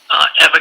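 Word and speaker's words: Ewa: Eva, PhD. Eva's first name is spelled E-W-A, but pronounced Eva, and it's Richard Huard, PhD, H-U-A-R-D.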